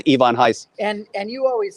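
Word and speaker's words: Ivan Reis: you say it yeah people know him as ivan reese but by his own pronunciation it's ivon heiss and and you always said lady death is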